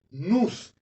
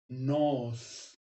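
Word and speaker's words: νοῦς: En las monografías antiguas decía que la pronunciación correcta era nous. Sin embargo, checando esto en un diccionario griego y oyendo la pronunciación, dice que se debe pronunciar nos, no nous.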